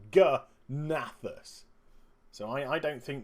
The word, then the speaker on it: G'nathus: will boss gathas naus I don't know if you want to silent the G or not silent the G I'm personally not going to silent the G because of the apostrophe if the apostrophe wasn't there I would call it nathus but because the apostrophe is there I'm going to call it g nathus so I I don't